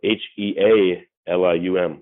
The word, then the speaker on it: Healium: It's spelled Healium, like to heal someone.